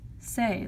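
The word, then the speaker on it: c'est: who already do know say means it is and you pronounce it like say like say what you need to say okay anybody John Mayer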